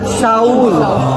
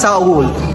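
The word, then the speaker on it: Seoul: blossom hotel dito sa ang tawag natin soul but Saul Ganun pala ang tamang pagpronounce Saul tapos sa Pilipinas tinatawag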